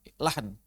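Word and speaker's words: لحن: Beliau mengatakan, fa'ammal lahnu, adapun yang dimaksud dengan lahan, bisukunil ha, dengan cara bacanya adalah mensukunkan huruf ha, maka maknanya fa'imalatul kalam.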